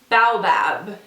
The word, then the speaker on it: baobab: it, and I think you say it as baobab.